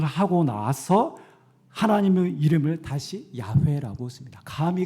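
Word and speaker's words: 야훼: 히브리어로는 우리는 여호와라고 했지만 온문에는 뭐라 발음이 어떻게 되냐면 야회라고 돼 있습니다. 그래서 어떤 성경 번역기에는요 그대로 번역해서 야회라고 읽습니다. 구약자들은 여호와라고 발음하지 않고 야회라고 읽습니다.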